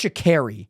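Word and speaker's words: Sha'Carri: it's shakeri or Shakari I think it's shakeri like I carry something not like I Cari something I think it's shakeri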